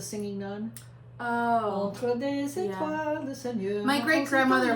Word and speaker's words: étoile: way, it is pronounced étoile. Okay. Étoile, Étoile. okay. With the L almost being silent.